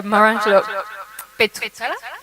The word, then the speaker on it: Maurangelo Petruzzella: So today we have a presentation by Maurangelo Petruzzella, if I pronounce it right?